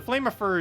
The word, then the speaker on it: Flameifer: Okay, so Flameifer is the correct pronunciation then.